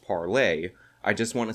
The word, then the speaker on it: Parler: videos and let her know that it's actually pronounced parlay now with all that out of the way